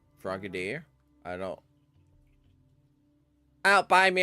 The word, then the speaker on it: Frogadier: Okay, so I was saying it right, Frogadier.